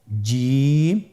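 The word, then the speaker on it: جيم: যাবে এর মাখরাজ হলো জিহ্বার মধ্যখান তার বরাবর উপরের তালুর সঙ্গে লাগিয়ে উচ্চারিত হয় আপনারা পিকচারে ছবিতে দেখতে পাচ্ছেন যে জিহ্বার মধ্যখান তার বরাবর উপরে তালের সঙ্গে লাগিয়ে উচ্চারণ করতে হয়।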